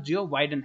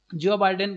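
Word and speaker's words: Joe Biden: और जो प्रेसिडेंट है तो उनका नाम जियो बाइडेन है, ठीक है। उसके बाद होता है जो बाइडेन बोल सकते हैं या फिर जॉय बाइडेन बोल सकते हैं, ठीक है। तो ये प्रोनाउंसिएशन के ऊपर डिपेंड करता है।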